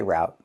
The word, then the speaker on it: route: You can say route or you can say route. People in America say both.